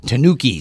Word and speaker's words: Tanukis: And you gave me the correct pronunciation on this next band. You're lucky. And what is it? Tanukis.